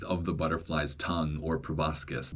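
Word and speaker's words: proboscis: He also did not really know how to pronounce proboscus. That's how I've always pronounced it, by the way. Proboscus. I guess some people might pronounce it probosus, but that just sounds wrong.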